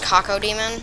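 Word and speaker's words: Cacodemon: Now, actually, that could be pronounced Kako Demon, but that sounds really disgusting.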